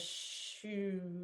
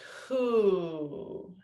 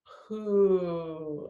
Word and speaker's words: hu: It's who. And that actually makes total sense, actually, because that resonates with the organ. It's who, and it's pronounced that way. But it's spelled HU.